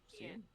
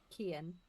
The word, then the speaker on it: Kian: And then we had said the twins, Elena and how do you pronounce? Kian. Kian. Kian. Yeah. It's like Kieran.